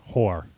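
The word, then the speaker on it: Hoar: Hor.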